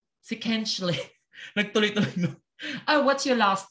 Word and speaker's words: Kinchley: Okay, so sometimes they do pronounce the H, okay, with a, as a H.